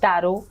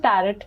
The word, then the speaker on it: tarot: बिल्कुल ठीक बोला है इट्स टैरो ठीक है कई बार हम इसको टैरोट बोलते हैं जैसे इसमें टी साइलेंट है तो ठीक है आपने